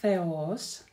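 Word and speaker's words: θεός: И эта буква theta, theta. В таких словах она присутствует как theos, theos.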